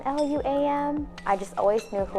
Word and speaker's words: Luam: Balaam this is it always get butchered for letters and it's two syllables yet I was a whale lamb mom Lou um is there an Lu am I just always knew